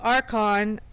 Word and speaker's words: Archon: So, Archon, um, the H is silent, which is interesting because